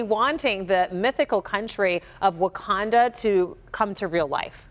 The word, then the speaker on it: Wauconda: the mayor's office of Wakanda, Illinois. Pronounced the same but spelled differently.